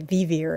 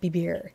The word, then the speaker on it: vivir: But if you had it as English, it would say vivir instead of bibir.